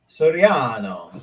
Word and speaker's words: Soriano: Now, your last name, could you pronounce that for us so we don't say it incorrectly? Soriano.